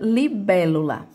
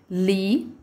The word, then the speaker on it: libélula: Então, ela tem 4 sílabas. Libélula. Lá é a minha última sílaba. Lu é a minha penúltima sílaba. Bé é a minha antepenúltima sílaba. Peraí. Ela é a antepenúltima sílaba e ela é acentuada.